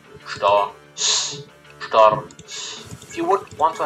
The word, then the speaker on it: Storch: The Stork, or Storch, or however that's pronounced, in German we call them Storch. That's 2 syllables. Storch. Like after the R and the CH, which is like a certain letter rule in German, it just cuts there. Again, Storch.